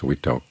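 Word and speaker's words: วิตก: The word for witaka, direct of thought, is witok, and it rhymes with yok, which means to lift.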